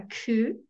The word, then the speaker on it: coup: okay all right no we come to the silent letter PE the silent letter P okay so here we have a word that's from French a coup coup d'etat but we often just shorten it to coup there was a military